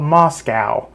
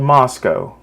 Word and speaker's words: Moscow: students in Idaho in Moscow Idaho that's how it's pronounced by the way it's not called Moscow that's in Russia in Idaho it's called Moscow anyways this person literally